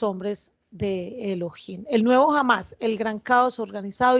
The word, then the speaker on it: Hamas: moderno conocido como Hamas y pronunciado como Hamas. Por favor, no, y ahí está subrayado en negrilla, mayúscula, no confundir la palabra española jamás, es decir, cuando nosotros